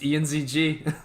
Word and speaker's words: Ianzg: Is it Ianzg, or is there an interesting way to pronounce that? Yeah, it's just Ianzg.